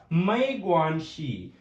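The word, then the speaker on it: 没关系: So next we have a Mai Guanxi.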